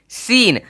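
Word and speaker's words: scene: ठीक है अब देखिए एस सी इ एन ई सीन अब अगर आप देखोगे यहां पे अच्छे तरीके से तो एस के बाद सी है तो सी का साउंड नहीं आना चाहिए जो कि हो भी नहीं रहा है एस एन सी इसका यूज हु है मतलब होता है दृश्य तो ये सी जो है यहां पे साइलेंट हो चुका है ठीक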